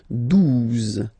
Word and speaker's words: douze: Douze, douze, O, U, the two together will give you the sound OO, okay? And then Z, douze, douze, all right?